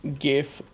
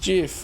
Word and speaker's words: GIF: would say it like GIF, not GIF. But because it's a graphics interchange format, well, you would pronounce the G like in graphics. Because it is an acronym.